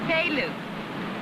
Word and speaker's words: Pele: You say my name so funny. It's Pele.